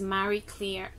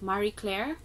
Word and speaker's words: Marie Claire: here anyway the brand of this bag is Mary Claire Claire how do you pronounce it Marie Claire it's a brand it's a good brand right